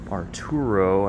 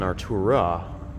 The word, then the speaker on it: Artura: Here we have McLaren Arturo, I believe. Oh, it's an Artura. I've been saying it wrong this whole time.